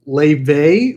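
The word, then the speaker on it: Laufey: I know there's multiple ways of saying that. Some are wrong, some are right. I saw people fighting online for like how to say it. Like, come on, man. Yeah. It's obviously very obviously because she's the star. It's Leve, the singer.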